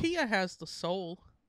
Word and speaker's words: Seoul: I've always thought, it's like, why are it's not spelled the way Seoul, South Korea is spelled. Yeah, because Americans wouldn't weird. Have understood. Yeah, Americans would have been the Seoli.